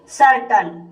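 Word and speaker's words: certain: अगला नियम है, जब सी के बाद ई आई वाई हो तब सी का उच्चारण सा होता है, जैसे सर्टन। सर्टन शब्द में सी के बाद ई आया है, इसलिए यहाँ पर सी का उच्चारण सा होगा, इसलिए इसे सर्टन पढ़ा जाता है।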